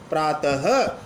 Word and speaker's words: प्रातः: से उच्चारण होता है अब विसर्ग सहित रूप को आप प्राप्त नहीं बोलोगे प्रातः यानी विसर्ग का उच्चारण प्रथम रूप से होता है यह हिंदी में आने